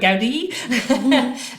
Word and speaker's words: Gaudi: Gaudi which were also fantastic you know and I